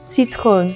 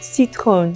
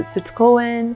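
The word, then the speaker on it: Citroën: But this is pronounced citron, citron.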